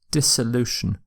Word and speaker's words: dissolution: the dis not the dis but dis sound dissolution uh but this isn't really used in science